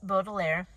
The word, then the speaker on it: Baudelaire: So I looked that up for you guys, and their last name is pronounced Baudelaire, which you probably know if you watched the Netflix series, but I haven't seen the Netflix series.